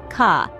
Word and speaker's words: K: In German, this letter is pronounced ka. It's a sound you're likely already familiar with, as it's similar to the English K.